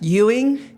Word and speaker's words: Ewing: So my uh Facebook is Elage and my Instagram handle is Yuing8 Euing. Yuing. I'm going to spell it E W I N G88.